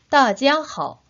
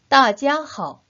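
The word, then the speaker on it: 大家好: 3번씩 따라 발음해 보도록 할까요? 大家好, 大家好, 大家好.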